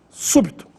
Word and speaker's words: súbito: E a última, súbito, aí a sílaba tônica é a antepenúltima, su, e também recebe acento agudo no U, súbito.